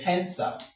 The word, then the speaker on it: handsome: So, let's come to handsome. Handsome. Handsome. Hand. Okay. Now, the D in this place is silent.